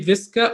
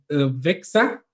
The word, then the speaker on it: VISXA: It's different ways, but it's you can say VISXA or VISXA. It's depending on how you pronounce the Z or X.